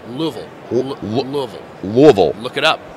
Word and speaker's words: Louisville: Oh, it's actually pronounced Louisville. Louisville. Not Louisville, not Louisville, it's Louisville.